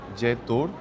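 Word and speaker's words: Jetour: Ya directamente con su nuevo logo Jet Tour. Si te fijas aquí se pronuncia la J.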